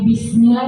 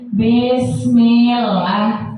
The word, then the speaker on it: bismillah: itu kita baca kesalahannya itu bismillah itu bukan di tapi B jadi kayak bis Gimana ya cara bacanya itu kayak ada e gitu Enggak ih padahal kan kasrah kan irismin tapi banyak orang-orang kalau sudah dibacanya bareng-bareng cara bacanya bukan lagi bismillah lagi tapi bismillah kan udah salah karena itu harokatnya kasrah